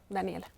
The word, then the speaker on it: Daniela: Daniela, realmente se pronunciaría Daniel, pero desde siempre Daniela.